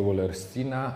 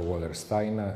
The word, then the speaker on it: Wallersteina: bardzo użyteczny schemat czy typologię Wallersteina albo Wallersteina. Różnie się wymawia to nazwisko w zależności od tego, czy wymawia je się po niemiecku czy po angielsku.